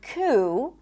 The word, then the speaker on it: coup: And also in the word coup, there is no P, even though it's in the spelling.